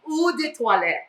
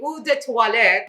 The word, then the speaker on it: Eau de Toilette: How do you pronounce? Eau de Toilette.